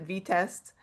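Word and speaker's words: Vitest: But uh Angular 20 is introducing experimental support with and tell me if I'm pronouncing this wrong. I think a lot of people aren't quite sure but is it VEST?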